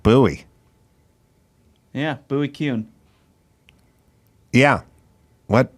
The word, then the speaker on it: Bowie: buy that's him Bowie yeah but he pronounced it buoy yeah buoy cun yeah